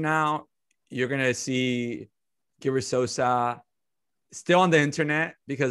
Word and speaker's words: Sosa: i'm saying it wrong so salsa sauce like salsa uh like sammy sosa so sammy salsa gilbert